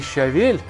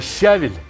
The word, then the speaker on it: щавель: Мы все называли вот эту зелень не щавель, как положено по словарям русского языка, а щавель. В целом наш русский язык был довольно чистый, хоть в дикторы бери, но некоторые ударения мы ставили по-особому.